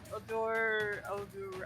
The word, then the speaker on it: Odor: help action to give Odor, I can never say it right. Advantage. Odor? Odor. Odor. Yeah, odor, like a smell.